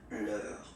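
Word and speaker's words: leurs: Okay, so remember, even if you get this final S, you don't pronounce it, as it was the case already for this word, nous, you don't pronounce the final S, vous, you don't pronounce it, leur.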